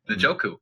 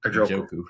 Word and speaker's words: Njoku: How do you say it? Njoku. Njoku. I got it.